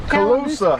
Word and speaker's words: Cauloosa: Those nice lightweight from, how do you pronounce it? Cauloosa.